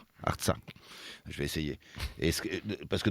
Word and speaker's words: Artsakh: Alors, l'Artsakh, comment on prononce exactement ? Artsakh.